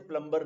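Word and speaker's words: plumber: प्लंबर को बुलाते हैं लिखा तो प्लंबर है बट प्रनंसीएशन हिसाब से प्लंबर नहीं बोलना दिस इज पेट साइलेंट रहता है और आर्मी चीफ नहीं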